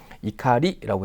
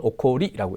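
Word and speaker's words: 怒り: 이렇게 마스형으로 가게 되면 이카리라고 해서 분노라는 뜻입니다 이때는 오코오리라고 읽지 않습니다 분노라는 명사로 사용될 때는이 가리라고 읽어주시면 되겠습니다 자 정답 2번이었습니다 다음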